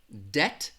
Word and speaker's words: debt: these two words so debt is going to have that short e that short e sound and it's going to sound like this debt alright you go into